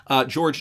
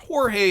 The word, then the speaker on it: Jorge: with the SEC counsel, George Tenreiro, as to the objectiveness or subjectiveness of recklessness. And I believe his name is actually pronounced Jorge, if I'm not mistaken.